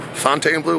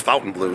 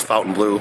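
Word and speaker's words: Fontainebleau: you want to say I think it's actually pronounced Fountain Blue so if you're saying it differently it's Fountain Blue I did a little research on that today and just made sure I'm saying it right but uh anyway I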